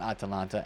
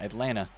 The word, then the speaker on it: Atlanta: Not Atalanta Atlanta.